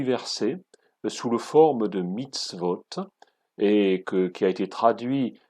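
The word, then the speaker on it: מצוות: Eh bien, il se prononce dans l'original mitzvah, au singulier, ou mitzvot au pluriel.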